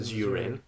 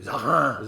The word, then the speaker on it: Zarin: introduce you as Zurin. Zurin. So you're pissed. Ha ha ha ha ha ha. Oh. Wrong pronunciation. It should be Zarin.